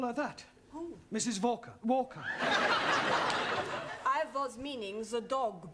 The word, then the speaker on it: Walker: Walker Walker what W is pronounced what your employer's name is Walker yeah volker do you know how many shots mrs.